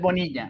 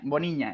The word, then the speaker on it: Bonilla: Oh, bad pronunciation. You said Bonilla. Bonilla. It's Bonilla.